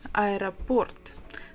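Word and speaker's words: аэропорт: begins with this is I report the stresses on the last syllable Port I report that's very difficult and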